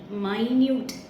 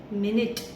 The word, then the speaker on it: minute: MINUTE மைன்யூட் அப்படின்னு சொல்லலாம், MINUTE மினிட் அப்படின்னு சொல்லலாம்.